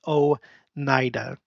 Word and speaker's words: Oneida: talked about this again Oneida is O Nida Onondaga is okay I